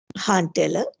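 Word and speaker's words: Jahn-Teller: little bit about the han teller effect okay so let's take it into a slideshow so this is han v although it's written as john john taylor j is there the j is salad here he pronounces it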